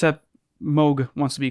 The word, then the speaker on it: Moog: of the Moog or remote thing it's a mogh wants to be called mogh not Moog but a lot of people who are not